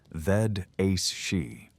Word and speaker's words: Aos Sí: The Aos Sí, pronouncits called them Aos Sí, and they were neither ghosts as we understand them, nor demons from any hell described in modern religions.